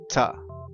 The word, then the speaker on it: to: infinitive to and go the infinitive always uses two but sometimes we do not say two we change the sound and we say tah tah we take the two